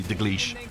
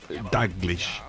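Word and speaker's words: Dalglish: I used to say Daglish, and it's Daglish. I've been putting the emphasis on the wrong syllable, but I got it right.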